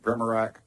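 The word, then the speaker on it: Primorac: Primorak, is that correct? How do you say that? Primorak? I got Burchett, man. Nobody gets mine right, so don't worry about it. What is it? Primorak?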